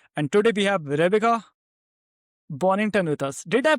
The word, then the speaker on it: Bonnington: I'm your host at and today we have Verba Bonington with us. Did I pronounce it right?